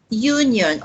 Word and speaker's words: union: and and address and union although it's letter U although it's letter U but remember when we say Union it sounds like why you why o you Union so the the spelling